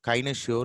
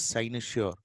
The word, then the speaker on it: cynosure: The word C can be pronounced as sa, it's like a cynosure, cynosure, cynosure. It is starting with the CY, but it's not kinosure, it is cynosure.